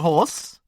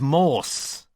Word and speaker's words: Morse: Horse. Mr. Horse, is it? Her eyes squinted myopically at his elasttolast name tag. Do you know I think they've spelled your name wrong, Mr. Horse. It's Morse.